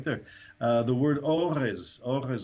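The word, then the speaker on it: אורז: The word orez, I put a little apostrophe there to represent the aleph because the first letter is silent.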